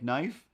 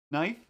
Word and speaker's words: knife: why isn't it there same as sometimes i kind of try to say knife knife but in a way where it's like nobody really notices but